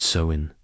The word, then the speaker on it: Samhain: It began on the night of October 31st, a festival they called Samhain, pronounced Samhain, and it was not a celebration of light returning but of darkness falling.